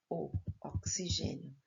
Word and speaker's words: oxigênio: Oxigênio. Eu completo com X na apostila, porém o som é como se fosse um C e um S.